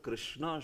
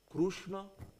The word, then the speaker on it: Krishna: How should the word Krishna should be pronounced exactly? Is it Krishna, or is it Krushna, or is it Krishna? Like that. Like that's the most perfect, Krishna, like that.